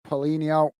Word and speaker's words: Paulinho: With Paulinho, that's how we pronounce it.